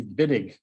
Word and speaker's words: Wittig: So the German pronunciation of W's with V's, like Volkswagen, makes more sense. So you just take the W, split it in half. This is the Wittig reaction. That's how you pronounce that.